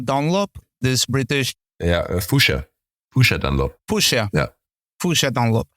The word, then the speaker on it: Fuchsia: I think I always pronounce it wrong. I say Foxia Dunlop, this British. Yeah, Fuchsia Dunlop.